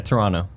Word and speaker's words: Toronto: about yet and Toronto how do you say Toronto all right there's Toronto Toronto everyone there's almost not a tea at the end come on starts at